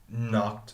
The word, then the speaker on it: knock: music suddenly a man knocked on my window okay so that's knocking notice the pronunciation starts K and so you the K is silent knock knock I was